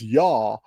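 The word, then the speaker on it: Jeou: J E O U and it should be pronounced Yah like the Hebrew like the Hebrew Y ah.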